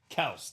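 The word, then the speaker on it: Kelce: Well, it's like Travis Kelsey. His name is actually pronounced Kelse technically. Proper pronunciation is Kelse, but I think we all call him Kelsey now.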